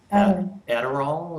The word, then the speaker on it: Adderall: And Deborah, you might want to pronounce this word because I probably will get it wrong. Adderall, is that it?